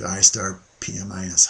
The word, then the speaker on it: I*PMIS: like the intro to istar pmis hotline and here we are welcome to the introduction to istar pmis presentation istar pmis pronounced I star pmis is a comprehensive project